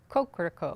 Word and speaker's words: Kokoroko: I believe he pronounced it Kokoroko.